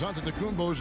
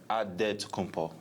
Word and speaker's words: Antetokounmpo: In the Nigerian way, you gotta say it with a D, so it's Antetokounmpo. But in the Greek way, you say it with the NT, like Antetokounmpo.